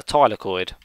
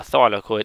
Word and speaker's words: thylakoid: of these disks is known as a tile accord or a thylakoid depending on your pronunciations so a sac of